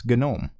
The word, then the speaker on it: GNOME: do a collab on the way to pronounce genome that's Michael that tux digital not pronounced genome correctly I think he does I hope he does I would expect better of Michael if he pronounced it known I hope he doesn't